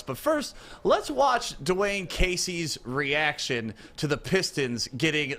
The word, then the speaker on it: Casey: is it coach dwayne casey or is it coach dwayne cade e no i don't know that second name my first name is